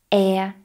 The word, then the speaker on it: heir: Now there are some exceptions where we do not pronounce the H, and many of these actually come from French. For example, hour, honor, honest, air, and also some letter